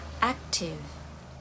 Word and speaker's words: active: Active. Active. A-nya agak mirip E, cuma nggak jadi aktif. Active. Active. V-nya itu bukan Fanta ya, tapi V. Active.